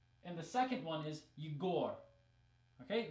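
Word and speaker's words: Егор: the second one is you gore okay the stress is in different places in the first one it's on the first syllable eager and in the second word it's on the second syllable you go and neither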